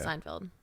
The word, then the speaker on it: Seinfeld: Seinfield is probably the is it Seinfield or sein say I feel like weeren pronouncing that different I think it's it's SP field but I think it's pronounced Fel yeah I think it is yeah Seinfeld yeah yeah anyway um I